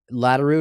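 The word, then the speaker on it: Laderout: yeah it's interesting yeah leroo is it spelled like it sounds or L is like complicated l a d e r o u t so is that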